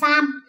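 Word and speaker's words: 三: Ví dụ như số 3, phát âm là san.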